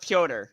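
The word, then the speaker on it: Petr: It's pronounced Piotr, not Peter.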